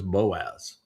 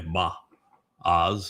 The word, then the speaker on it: Boaz: shared his name was Boaz. Uh the proper pronunciation is probably ba oz or ba o it means in strength with power fortified.